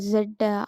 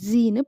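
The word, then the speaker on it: Z: ஆல்ஃபபெட்டில் கடைசியில் வர ஜெட்டை அமெரிக்காட்ட போய் ஜெட்டுன்னு சொன்னால் அவங்க என்னன்னு கேட்பாங்களாம். அவங்க ஜெட்டை வேறு மாதிரி ஜீன்னு ப்ரொனவுன்ஸ் பண்ணுறாங்க.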